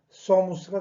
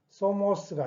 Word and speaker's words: somos: 그래서 발음은 소무스가 되겠습니다. 소무스. 소모스가 아닙니다. 예, 너희 소무스.